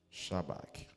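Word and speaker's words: shabach: 7 Shabac Shabac'écrit SH A B A C H Shabak désigne une louange triomphante, un cri de joie ou une proclamation à haute voix de la grandeur de Dieu.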